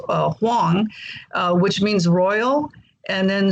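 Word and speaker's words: 黄: My Chinese name is Huang, in Mandarin, Wang is pronounced Huang, which means royal.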